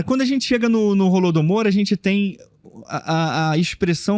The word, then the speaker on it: Holodomor: A pronúncia é com Holodomor. Holodomor. Se escreve com H. Em ucraniano fala Golodomor, né?